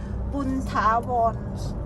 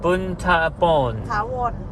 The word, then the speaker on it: Boonthavorn: Boonthavorn. Boonthavorn. Boonthavorn.